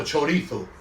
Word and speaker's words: chorizo: not chorizo choddy thought the zed is said like a th or you're going to say like is it chorizo or chorithal nothing else um right